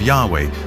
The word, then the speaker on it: Yahweh: was these four letters which in English would be yhw H which we think were probably pronounced something like Yahweh but Yahweh only appears